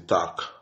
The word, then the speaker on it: talk: dit A, on dit talk. Talk. On pas dit talk, on dit talk. OK? Donc, elle là, n'est pas prononcé.